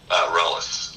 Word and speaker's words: Reles: So when you go, by the way, how do you pronounce your last name? Reles.